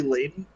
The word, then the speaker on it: Layden: wait, Um, is your name really Layden?